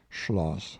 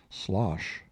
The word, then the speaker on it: Schloss: miss smith to adopt the prevailing pronunciation of schloss by saying schloss softly and casually every time she said slosh but nobody succeeded in